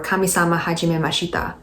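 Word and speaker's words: Kamisama Hajimemashita: kami-sama hajime mashita uh is that how you pronounce it i must have butchered it i'm so sorry i'm gonna search it up hold on i said it right it just sounded wrong tommy samajima let's move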